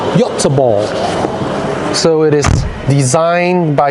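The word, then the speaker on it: Göteborg: designed in gothenberg Sweden the proper pron pronunciation for gothenberg in Swedish is y ball so it is designed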